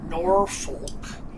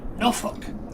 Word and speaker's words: Norfolk: You don't say Norfolk, as the word looks like Norfolk. You say Norfolk. That's kind of the way the locals pronounce it.